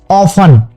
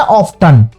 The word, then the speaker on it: often: लेकिन जब ये दोनों शब्द एक साथ जुड़ जाते हैं OFTEN, तो ये क्या बन जाता है? ऑफन। लेकिन हम इसको साधारणतः शुरुआत में पहली बार अक्सर क्या बोलता है बच्चा? ऑफ्टन। तो टी उसमें साइलेंट है।